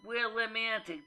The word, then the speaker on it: Willimantic: went transitioning to ed in sorry computer you mispronounced it it's willimantic m a n w-i-l-l-i-m-a-n-t i c i'm english